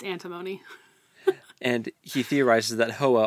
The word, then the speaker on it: Antimony: We always say her name wrong. It's Antimony.